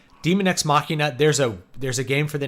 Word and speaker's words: machina: I'm like, oh, yeah, we should probably pronounce it in a more Latin fashion, not say Machina.